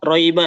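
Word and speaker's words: رَيْبَ: Ya, Jadi sampai di roiba ya. Roiba. Roiba. Jadi dia mengalir. Ya. Jangan cepat-cepat iya-nya. Roiba.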